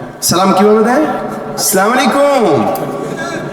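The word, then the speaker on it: السلام عليكم: আমরা সালামের উচ্চারণও জানি না সালাম কিভাবে দেয় আসসালামু আলাইকুম কি দেয় আসসালামু আলাইকুম দিতেছে সালাম রাজনৈতিক সালাম এগুলা বুঝছেন السلام علیکم السلام علیکم السلام علیکم السلام علیکم السلام علیکم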